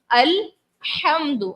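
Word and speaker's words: الحمد: लफ्ज है अल्हम्दु, हा से, हा हलक के दरमियान वाले से सदा करना होता है।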